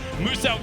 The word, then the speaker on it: Muso: Now, Muso wants you to know his name is pronounced as Muso, the Australian-based content creator down there.